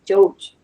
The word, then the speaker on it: Joj: Joj, so it's pronounced as Joj. Joj. Joj. Joj. All right. George, what does that mean, Sister Princess? So Joj can mean you're welcome or please. Oh, please. Does it differ when like how you say it? Like the pronunciation of it? No, po, it's the same. It's the same. It's all the In same. both contexts, it's still Joj.